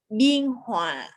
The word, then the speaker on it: Biên Hòa: Biên Hòa.